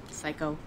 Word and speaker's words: psycho: Good night, psycho. So when you tell this story to your friends, could you avoid the word psycho? I'd prefer eccentric. Good night, psycho. Psycho. P is not pronounced.